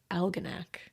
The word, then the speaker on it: Algonac: Yes, you can use my name, and I'm looking forward to hearing you pronounce the name of my hometown, Algonac. Like almanac. Like Algonac.